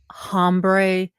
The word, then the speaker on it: hombre: But as I said, I'm a 12-year-old, and I am from the people that just learned hombre is not pronounced with an H.